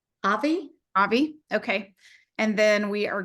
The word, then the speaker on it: Avi: Does anyone know how you pronounce his name? Avi? Avi.